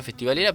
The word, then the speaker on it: Festivalera: Se pronuncia festivalera, pero está dividido como F y Valera.